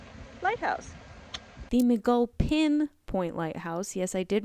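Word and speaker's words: McGulpin: and now we are going to tour the mcgowfin lighthouse the mcgull pin point lighthouse yes i did mispronounce it in that last clip is approximately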